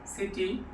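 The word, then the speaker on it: city: মাধ্যমে তা জেনে নিব যখন সি এর পরে ই আই এবং ওয়াই থাকবে তখন সি এর উচ্চারণ হবে দন্তস এর মত। যেমন সিটি সেন্ট সাইকেল সিনেমা।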